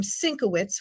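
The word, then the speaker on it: Syncowicz: We have our program Syncowitz, which is spelled phonetically, SYNC-O-WICZ.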